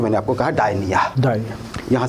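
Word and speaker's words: Gdynia: है राधेशाम वहां पर ये डायनिया कहा जाता है पी से शुरू होती है वैसे इसकी स्पेलिंग अगर आप देखेंगे पर डायनिया प्रोनाउंस होगा वहां पे बड़े सारे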